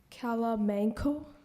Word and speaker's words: calamanco: Kalamanco.